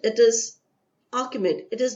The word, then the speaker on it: Achaemenid: the city of Takshila, then capital of the Achaemenid territories in northwestern ancient Indian subcontinent, following the Achaemenid conquest of the Indus Valley. I give you the spelling of Achaemenid. It is Achaemenid.